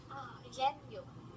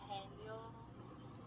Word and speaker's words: 해녀: Yenyo. Yenyo? Yenyo? Hanyo? Yenyo? How do you say it? Yenyo? 아, 해녀, Is 해녀, what? 해녀, Henyo.